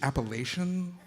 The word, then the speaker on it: Appalachian: who said shit like, the correct pronunciation is Appalachian.